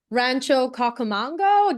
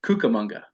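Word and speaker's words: Rancho Cucamonga: location of this project Rancho kakamanga did I get this righto kukamonga cucamongo okay and why did you guys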